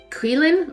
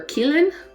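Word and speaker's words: qilin: newt scamander helps a a clelin or kielen i think that's how they pronounce it in the movie aquiline it's a magical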